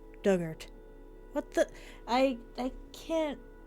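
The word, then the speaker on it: Dugort: pronunciation those in the past tense of dig ort rhymes with hurt dugart what the I I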